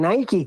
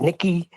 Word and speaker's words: Nike: Nikki Nike, I'm pretty sure it's Nike. I've never heard anyone pronounce it as Nikki's.